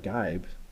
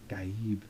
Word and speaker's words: Gaib: It's not Gaib. Gaib.